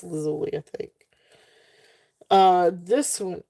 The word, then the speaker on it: lazuli: So, lapis um was it lapis lazuli? Is that how you say it? Lazuli or is it lazul? Yeah, it's lazuli.